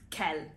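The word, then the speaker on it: quel: endings of the Kel they all sound the same they have the same pronunciation which is always Kell finally moving on to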